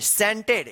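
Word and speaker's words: scented: एन टी ई डी सेंटेड यानी सी जो है ना साइलेंट रहता है।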